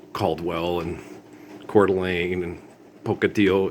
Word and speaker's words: Pocatello: and Coeur d'Alene and Pocatello. It's Pocatello. It's a Spanish word. It's Pocatello. It's not tello. We don't say it's two L's in Spanish is pronounced ia. Okay. Pocatello. It's not Pocatello. Okay.